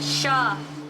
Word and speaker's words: chat: Chat pronounced sha means cat in French.